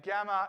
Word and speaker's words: gamma: got gamma gamma and gamma is like the g in an english alphabet right makes the same